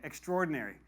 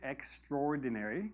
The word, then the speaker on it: extraordinary: name very common very popular very famous ok extraordinary so first of all pronunciation extraordinary not extraordinary although some people do say that